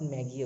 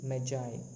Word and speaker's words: Magi: Magi spelling is Magi, not Maggie. Okay, Magi, Magi, Magi, written by O.